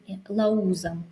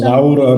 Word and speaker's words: Lauza: To pronounce Lauza, but many people call me Lauza for some. Laura, because British people call her Laura. Because it's easy, and if you write Lauza with Z, they think it's R, so they pronounce Lauza.